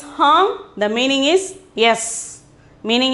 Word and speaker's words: हाँ: Then the eighth one is ha. Ha. The pronunciation is hum.